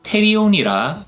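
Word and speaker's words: pterion: 오는 p p 즉 두 개의 자음이 연속하여 나오므로 피는 묵음 이 되어서 태희 용이라 발음합니다 여담이지만 페리오 는 날개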